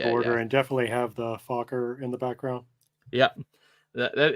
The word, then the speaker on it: Fokker: be a red border and definitely have the Fokker in the background. Yep. That is Fokker. Exactly. Yeah. Before we get struck, it's Fokker.